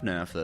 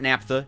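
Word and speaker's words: naphtha: Oh, it looks like we have just enough NAFTA. That's probably the next automation target we need to hit, though. Napa. Nap. No, not Napa. Nafta. I hate how that's pronounced.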